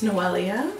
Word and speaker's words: Noelia: People always mispronounce my name. It's Noelia. No. And I hold a bitter grudge against anyone who mispronounces it.